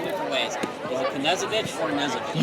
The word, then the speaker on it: Knezovich: You pronounce the K. You do pronounce or don't pronounce? You do. Okay. You do. Yep. So you eat with a knife, but your last name is That's right. How I'll remember it. Like Evel Knievel.